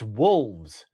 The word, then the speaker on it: wolves: And that's not right. It's wolves. There's an L.